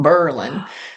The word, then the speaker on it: Berlin: be called you know Berlin and Milan but they changed it so that the accent was on the first um syllable Berlin um so that was